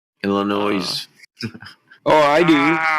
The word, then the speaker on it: Illinois: but uh yeah from illinois to south dakota straight line you don't pronounce the s in the illinois illinois oh i do